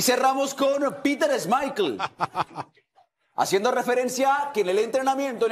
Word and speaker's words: Schmeichel: Es Schmeichel, no es Michael. No pronuncia bien eso, ¿no? Es Schmeichel, porque es danés.